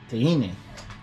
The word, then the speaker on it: Teine: Teine.